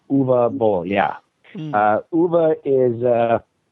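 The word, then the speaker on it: Uwe Boll: just for his edification you pronounce his name UA oh UA UA bow yeah uh UA is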